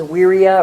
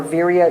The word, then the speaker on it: virya: Determination, the word is virya or virya, it's spelled with a V.